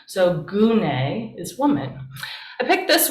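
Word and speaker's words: γυνή: this word gunai and there's no y in greek but the y or the y often comes from the the upsilon the u sound so gune is woman i picked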